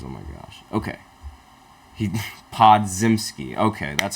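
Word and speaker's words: Podziemski: lot of messages oh my gosh okay he pod zimsky okay that's how you pronounce his name that's fantastic crucial PG said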